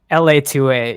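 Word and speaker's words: LA-2A: Is it L2A2? Is how you say it? LA2A, yeah. I LA2A.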